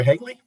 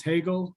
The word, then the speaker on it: Hagel: We'll now move to Hagel or Hagley. Hey, you said it right the first time. It's Hagel.